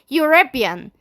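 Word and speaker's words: European: مين ان هقوللك لا ارجع انطق الكلمه يوربيان يوربيان نطقت اليو ها يو ناطقه ولا مش ناطقه ناطقه فاحنا لسه قايلين ان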